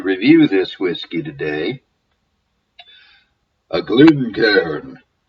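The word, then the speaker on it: Glencairn: c a r n it is not a couple named Glenn and Karen the second syllable is c a i n one syllable Ken but be that as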